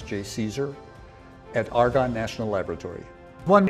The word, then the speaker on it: JCESR: I'm director of the Joint Center for Energy Storage Research, which we pronounce JCSER, at Argonne National Laboratory.